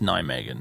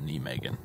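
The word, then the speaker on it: Nijmegen: megan oh yeah and that's also pronounced nine megan not knee megan got that wrong too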